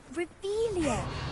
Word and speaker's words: Revelio: You're Revelius. saying it wrong. Ugh, Revelia. Much better.